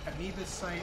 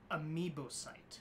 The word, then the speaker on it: amoebocyte: Horseshoe crab blood contains a unique enzyme called Liminus amoebocyte lysate, or LAL.